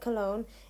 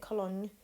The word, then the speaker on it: Cologne: his family now this i did check the pronunciation of this because i wasn't entirely sure i can't pronounce it colon but i think it's cologne although peak's time in space